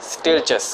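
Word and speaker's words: Stieltjes: इसमें जो ये सेकंड वाला टी है ये साइलेंट है, स्टिरचस आपने कहना है इसको।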